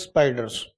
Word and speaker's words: SPDR: on NASDAQ 100 index SPDR while pronouncing they pronounce it as spiders.